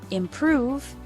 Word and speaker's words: improve: the first syllable ing the word improve has the stress on the second syllable prove in natural spoken English